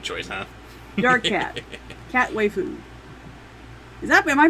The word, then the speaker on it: waifu: Cat waifu. Am I pronouncing that right? I think it's waifu. Waifu. As in wifey.